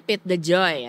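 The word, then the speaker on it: Pete DeJoy: Pit ini bacanya Pete the Joy ya.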